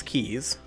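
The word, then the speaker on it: quay: need to redo these keys which apparently is how that word is pronounced it really looks like way to me but apparently it's pronounced key okay the flood is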